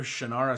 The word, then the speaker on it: Shannara: The Sword of Shannara is for you.